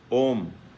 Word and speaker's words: ओम: तो ये ओम जो शब्द प्रतीक है, इसमें 3 शब्द हैं, आ, उ, मा। आ, उ, मा, ये 3 शब्द हैं, 3 मात्रा हैं, तीनों मिलकर ओम ये शब्द बनाया गया है। अब इसके उच्चारण में आप देखिए, जब हम आ कहते हैं तो पूरा मुंह खुलता है, होंठ बहुत दूर दूर चले गए। जब ऊ ऐसा करते हैं तो होंठ पास आ गए, और जब माँ बोलते